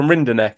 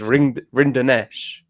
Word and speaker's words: Rinderknech: He's not looking great against Rinderknech. And it's not even Rinderknech as well. It's Rinderknech. Yeah, Nesh.